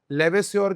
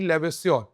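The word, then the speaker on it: Lavoisier: sir Antony लेवस्योर लेवेसोर की spelling L ए वी ओ आई एस आई ई आर sir Antony लेवेसोर okay he is known as father of modern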